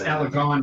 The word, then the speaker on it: Alagon: you can cross-reference by Alagon. Alaghon. Corrects me on how to pronounce that. But that's it's Alagon now.